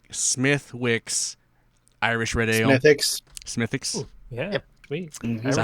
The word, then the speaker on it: Smithwick's: wix Irish radio ethics smithix yeah is that how you pronounce it you know you don't say the Ws smithix all right thank you